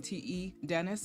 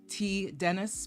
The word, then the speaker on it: T Dennis: yesterday in that stream te Dennis about how your name is to be pronounced and you clarified on the mic that it's so supposed to be T Dennis because of your initials I am looking in